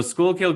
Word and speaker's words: Schuylkill: you started a magazine and how do you pronounce the name of your city it's schuylkill county school council okay so school kill county he started a schoolkill living magazine tell